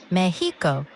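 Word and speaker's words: México: In Spanish, it's pronounced Mexico with a softer H sound where the X is.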